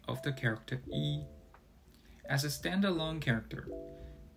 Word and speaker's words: 一: However, when the character following E is the first, second, or third tone, E is pronounced as the fourth tone, that is, E. When the character following E is in the fourth tone, E changes to the second tone, pronounced as E.